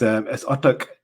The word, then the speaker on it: Urtuk: I think maybe people have thought of spelt attack wrong or something like that, but no, it's Urtuk. Yeah, so it's pronounced Urtuk, and this was Urtuk is a place in North Pakistan, and that's where my father is from.